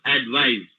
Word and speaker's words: advise: is noun advice if it is a verb advise you have to use that sum advise so